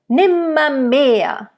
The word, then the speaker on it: nimmermehr: Nimmermehr. Also nimmer. It's not nimmermehr. It's too much R, especially in that word.